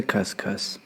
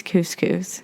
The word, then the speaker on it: couscous: have educated somebody today where's the cuscus it's couscous yeah i'm surprised thank